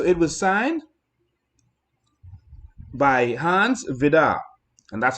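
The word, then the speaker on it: Vide: And so it was signed by Hans Vidar, and that's how you pronounce it. It's spelled V-I-D-E, but it's Hans Vidar. It's how you pronounce it.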